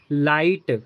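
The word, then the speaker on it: light: लाइट तो आई के बाद जी एच आ गया ना तो जी एच साइलेंट होगा।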